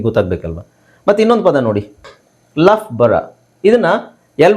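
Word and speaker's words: Loughborough: ಬಂದ್ರೆ ಅವಾಗ ನಿಮಗೆ ಗೊತ್ತಾಗಬೇಕಲ್ವ ಮತ್ತೆ ಇನ್ನೊಂದು ಪದ ನೋಡಿ ಲಫ್ ಬರ ಇದನ್ನ ಎಲ್ ಓ ಯುಜಿಎಚ್ ಇಲ್ಲಿ ಲಾಕ್ ಆಗುತ್ತೆ ಬಟ್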